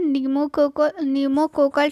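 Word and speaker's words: pneumococcal: ठीक है, इसका फुल फॉर्म होता है न्यूमोकोकल। ठीक है, पी से स्टार्ट होता है, पी जो है इसमें साइलेंट होता है, तो न्यूमोकोकल पी से हो गया,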